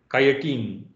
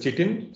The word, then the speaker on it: chitin: their body, you get chitin. Okay, some people pronounce it as chitin, some people say chitin. I think it's the right pronunciation is chitin.